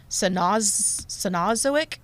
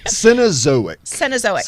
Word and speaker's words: Cenozoic: And they lived 20 million years ago in the, I'm not sure I'm going to pronounce this correctly, Cenozoic era?